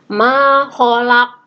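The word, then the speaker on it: ما خلق: ya Daya makholaq kok Nah itu tulisannya kholaqo Tapi bacanya makholaq ognats kosnya pantulanya berat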